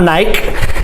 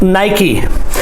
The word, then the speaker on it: Nike: It's not Nike. It's pronounced Nike.